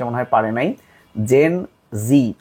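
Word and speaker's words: Gen Z: মনে হয় পারে নাই জেন জি আসলে জেড টাকে উচ্চারণ করা হয় জি তো এর জন্ম সময়কাল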